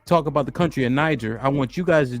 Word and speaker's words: Niger: This is thousands of years older than Niger, right? So what you think? Called the Black Man here, right? Now, the pronunciation will be argued, right?